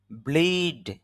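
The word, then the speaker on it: blew: অনেকে এটাকে ব্লিউ উচ্চারণ করে, ব্লিউ, ব্লিউ হবে না, ব্লু হবে, তবে একটু দীর্ঘ হবে।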